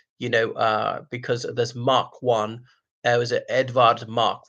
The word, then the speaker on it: Mach: among my class, and reading as match or march because it's pronounced Mark.